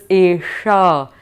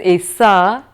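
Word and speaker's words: एषा: The sh that is there is the murdha sh, which means that the tongue touches the roof of the palate. So it's Esha. You will hear the difference if one says Esha or if one says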